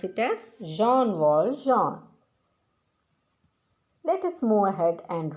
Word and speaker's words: Jean Valjean: and his name is john waldron let us pronounce it as jean-wall john let us move ahead and read the play